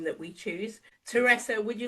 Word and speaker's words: Teresa: So, I actually called Teresa Teresa. And then she asked me really politely, oh, actually, my name is Teresa, or please call me.